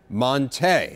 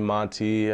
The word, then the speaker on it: Montee: Teddy greenstein's piece it said that your name is actually pronounced Monte have we been saying it wrong all along uh yeah everyone's been been calling me by you know call me Monty or ormani ever since